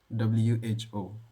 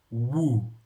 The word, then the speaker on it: who: doing Not Alone Today podcast um, about the pronunciation of the word WHO. WHO. Who? But of course, I've always pronounced that word as woo, like WU.